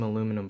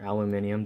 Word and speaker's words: aluminium: let me grab some aluminum foil okay just as a temporary fix I'm going to fold a little bit of aluminum foil or aluminium depending on how you pronounce it you just carefully stick